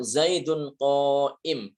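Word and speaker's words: زيد قائم: Akan tetapi kalau dibaca waqaf maka dia tidak dilafalkan. Contoh Zaidun qoim. Ini tulisannya adalah Zaidun qoimun.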